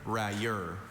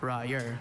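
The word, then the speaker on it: railleur: May you please repeat the word rayur. Are there any alternate pronunciations?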